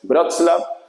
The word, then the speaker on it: Wrocław: La pronunciación es Brotl y es la Mendoza de Polonia.